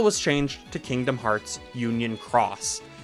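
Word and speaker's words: Union χ: But once the story had caught up, the title was changed to Kingdom Hearts Union Cross. This time the X is pronounced cross.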